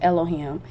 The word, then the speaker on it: Elohim: And in my study in Elohim, which is spelled like the 4-letter name, but punctuated and pronounced Elohim.